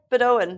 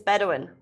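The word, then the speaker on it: Bedouin: And it's like Bedoan. What? I've been pronouncing it my whole life. Mispronouncing my whole life. Bedoin. It's Bedawin. I thought it was Bedoan.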